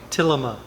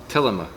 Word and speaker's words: Tillema: I'm or Tillema. Tillema. Okay. Tillema.